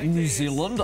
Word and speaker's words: Zealand: So because I really can't do a New Zealand accent, I'm rubbish at it. So you teach me. Zealand. So, Zealand. Zealand. New, yeah. New Zealand. All one syllable.